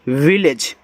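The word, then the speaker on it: village: वी I double L ए जीत, इसको पढ़ते हैं विलेज। तो वी से वाह, आई से छोटी की मात्रा वी, यहाँ भी डबल एल है तो आपको एक बार ला लिखना है। ए जी को हम पढ़ते हैं एज, एज पढ़ते हैं तो ए क्या करता है, ए की मात्रा, और जी के बाद ई है तो यहाँ पे जा, ए आपका हो गया विलेज।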